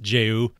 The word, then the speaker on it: JAYU: And I have since learned that it is pronounced Jayou.